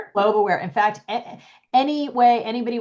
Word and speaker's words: Globe Aware: Spotify all that with globe aware a lot of people say global I think make it two syllables but it's just globe Awar.